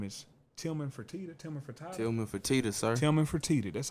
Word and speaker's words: Tillman Fertitta: Tillman Fertitta.